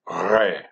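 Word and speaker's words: Resh: This letter is pronounced with an R sound, but more guttural. Re.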